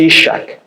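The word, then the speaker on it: יצחק: Isaac é um nome que em hebraico pronuncia-se Ishak, que significa aquele que ri.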